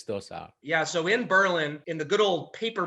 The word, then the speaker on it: Berlin: in the state called berlin and yes we pronounce it berlin not berlin in new hampshire and if the price is